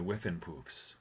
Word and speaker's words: Whiffenpoofs: Where you were in the noted singing group, the Whiffenpoofs, correct? You pronounced it perfectly.